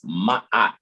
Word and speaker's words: Ma'at: That's how that term is actually pronounced. It's ma'at, right? A lot of times people put a Y in there somewhere between those A's. And that's an apostrophe. That's not a Y.